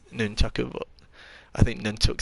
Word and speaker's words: nunchaku: I'm going to take a pair of nunchucks, I think. I know that's not the correct way to pronounce that. I know it's nunchaku, but I think nunchuck sounds much better.